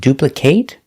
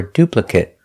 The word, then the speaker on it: duplicate: words like this one is it duplicate or duplicate both both pronunciations are correct let's take a closer